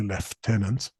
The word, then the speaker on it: lieutenant: was a lieutenant colonel sorry that's an American pronunciation well it was an it was US Army Lieutenant Colonel as they saying the US Army but in more civilized armies we say left tenant I work for the